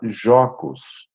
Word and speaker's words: jocus: Mas havia uma outra palavra, na mesma Roma antiga, em latim se pronunciava jocus, Jocus.